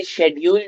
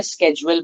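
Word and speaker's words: schedule: में शेड्यूल बोलते हैं, अमेरिकन या ब्रिटिश में से किसी एक में शेड्यूल बोलते हैं, एक में स्केड्यूल बोलते हैं। तो ये प्रोनाउंसिएशन की डिफरेंस है, बट बोथ आर एक्सेप्टेड।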